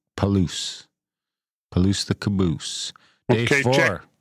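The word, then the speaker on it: Palouse: Palo Falls State Park Palo rhymes with Caboose perfect paloo Palo the Caboose Day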